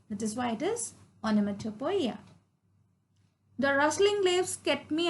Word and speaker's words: onomatopoeia: It is pronounced as onomatopoeia.